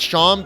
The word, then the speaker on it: Seam: Obviously, his name is spelled like seam, like a sewing seam, but it's probably pronounced Sham because my guess is that he's meant to be a shaman.